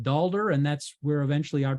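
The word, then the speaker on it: daalder: called a Lua dollar they they pronounced it dalder and that's where eventually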